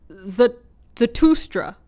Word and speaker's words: Zarathustra: Zarathustra.